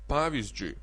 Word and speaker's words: pavyzdžiui: Pavyzdžiui, pavyzdžiui, now it may be a little hard to pronounce three consonants in a row. Pavyzdžiui, pavyzdžiui, but of course language is a natural thing and people may pronounce the three consonants a little differently. Like pavyz pavyzdžiui they may don't even say zž but they say ž only.